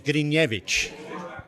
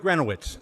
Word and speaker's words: Grinevich: The official pronunciation is Grinevich. That's right. That's right. But you can get away with Grenowitz.